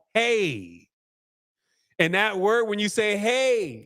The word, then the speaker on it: Ai: how you pronounce this AI is not called AI it's called hey and that word when